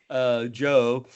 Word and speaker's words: Djo: So, and Joe is spelled DJO, I think, if I remember correctly.